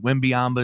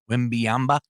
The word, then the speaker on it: Wembanyama: Wembanyama is going number 1 to the San Antonio Spurs. No, What'd you just call him? Wembanyama. Wembanyama. Nope. One more time. Wembanyama.